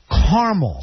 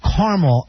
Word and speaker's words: caramel: you say it caramel caramel two syllables caramel that's only 38 of the country three syllables caramel 37 of the country